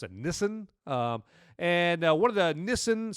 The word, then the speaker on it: Nissan: And so then he's so good at this game that Nissan, I think that's how I used to pronounce it Nissan, but I guess you have to pronounce it Nissan.